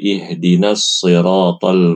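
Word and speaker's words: اهدنا الصراط: Bacaan yang fasih adalah sh si ini yang fasih ya. Yang harus ibu hindari bacanya si she si she si. Ini enggak boleh ya, karena banyak yang baca ihdinasat mustaqim. Salah ibu-ibu bukan ihdinasirat tetapi ihdinasi ihdinasirat ihdinasirat sh si sh si sh si ini yang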